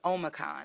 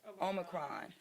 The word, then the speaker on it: Omicron: covet 19 and also with the impacts of omicon am i saying it right omicron omicron which we understand is a new variant and version of covet 19.